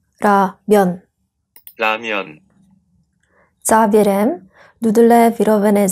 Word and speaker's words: 라면: Toto slovo se vyslovuje v Japonsku jako Ramen. A pak toto slovo přišlo do Koreje z Japonska. Podle systemu korejské výslovnosti se to vyslovuje „Ramyeon 라면“. „Ramyeon 라면“ Závěrem, nudle vyrobené z